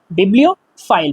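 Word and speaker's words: bibliophile: नहीं होगा, बिब्लियोफाइल, बिब्लियोफाइल, okay, the pronunciation is बिब्लियोफाइल। बिब्लियोफाइल उस इंसान को हम कहते हैं जो इन किताबों से बहुत प्यार करता है, उसको किताबों से प्यार है।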